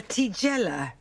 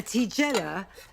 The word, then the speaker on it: tigella: minute, which is a tigella maker. And a tigella is a flatbread from Modena in Italy, a little flatbread, and it is spelt like Nigella, only with a T instead of an N, and yes, that is why I got it.